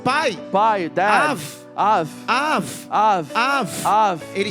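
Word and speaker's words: אב: You know how you pronounce father in Hebrew? Av. Af. Av.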